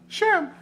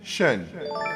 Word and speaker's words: Shun: Also want to send a special shout out to Shim. What's up, Shim? Saying his name wrong the entire time. It's actually Shun. It's Like S-H-U-N. Shun.